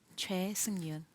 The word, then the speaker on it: Choi Seung-yoon: just please tell me your name as you pronounce it right my name is CH Yun but you can call me Yun yeah thank